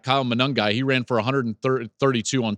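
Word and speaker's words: Monangai: but they did allow Kyle um manungi is how you pronounce Ruckers running back Kyle manangi he ran for 1332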